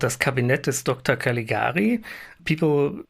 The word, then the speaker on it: Caligari: And one of the things I noted was that you released just recently a motion picture soundtrack for Caligari. Am I saying it right, Reiner? Caligari?